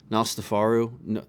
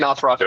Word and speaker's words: Nosferatu: didn't get to see what how do you pronounce it? Nostafaru? No, is that how you say it? oh, If, Nosferatu. Nosferatu.